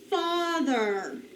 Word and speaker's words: father: We have the ah sound of A, even though it doesn't follow the pattern. That's what makes it a funny word.